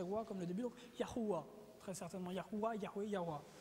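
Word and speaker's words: יהוה: Donc, Ya, et le nom de Dieu au complet, YHWH, la prononciation très certainement serait non pas Jéhovah, mais serait très proche de Yahuwah. Vous avez entendu Yahweh déjà?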